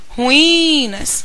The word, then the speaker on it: ruínas: que está na questão em ruínas eu tenho sílaba tônica o i ruinas sílaba tônica um outro